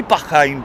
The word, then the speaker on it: Bahrain: bravo it is the Bahrain uh Royal flight it is a Bahrain Royal flight um I say bahain because that's the way they say is it or just say Bahrain whatever try to build